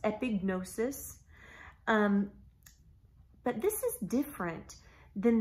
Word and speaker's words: epignosis: in this verse is epignosis epi G in OS is sometimes when we read that Greek word in English we don't pronounce the G some people don't it's epignosis sometimes it is pronounced epignosis but this is different